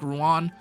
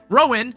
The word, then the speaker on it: Rowan: pretty much no utility offensive support quite like Ruan Rowan why can't I say his name right Rowan specifically because he's basically an ultimate energy battery